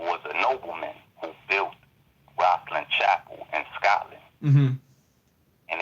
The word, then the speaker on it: Rosslyn: Is that the one you call Warswell? I'm mispronouncing. Yeah, Rosslyn Chapel.